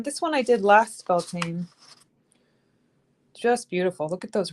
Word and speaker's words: Bealtaine: As we were talking about, nobody pronounces it correctly. Beltane.